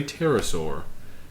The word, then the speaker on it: pterosaur: that it is a pterosaur. Ooh. This goes back to your raptor. I'm really pleased that you did not pronounce the P like I would have.